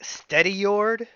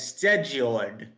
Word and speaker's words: Stedjord: for a fact that I am pronouncing them wrong, but I'm relatively sure that like the really wrong American way of saying it is like Steadyord, like Steadyord. I say it as Stedjord. Stedge.